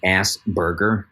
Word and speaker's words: Asperger: It's not even the like Asperger. Like, fine, anybody's going to mispronounce it.